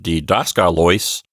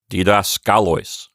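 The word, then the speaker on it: διδασκάλοις: the right and so instead of D dosca Lois you get didascaloys so the takeaway there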